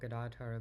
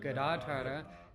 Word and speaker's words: Gadadhara: Okay, now I'll speak briefly about Gadadhara Pandit and Bhaktivinoda Thakur.